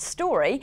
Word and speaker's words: STQRY: The application, pronounced Story and spelt STQRY, acts as an interactive mobile platform where information can be uploaded about attractions in the area.